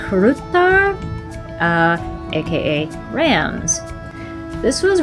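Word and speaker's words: Hrútar: This is uh I think it's pronounced Rutar uh aka Rams.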